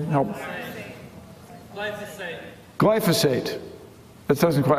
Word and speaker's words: glyphosate: which has a name, glycosol. Does anybody know the name? Help. Glyphosate. That doesn't quite, I didn't say it right. It's a GLY word, and it's important.